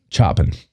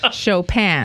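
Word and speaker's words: Chopin: 19th Century composer chopan choen no you say it chopan I looked it up specifically because I did not know and I didn't want to pronounce it correctly it is chopan Steven stinking Foster oh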